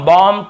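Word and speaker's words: bomb: लेकिन ज्यादातर आप देखेंगे ये सब वर्ड्स में हम एम के बाद बी का उच्चारण नहीं करते हैं। कॉम, बॉम्ब, थम, डम, थम्ब ऐसे बोलते थे, याद रखिए।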